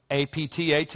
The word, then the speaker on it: APTAT: Tengo uno, un acrónimo, tal vez lo han visto en uno o dos de mis libros A.P.T.A.T (A.O.C.A.A), pronunciado es Aptat (Aocaa), como palabra no significa nada Solo me pareció fácil de recordar Y Aocaa, para mí...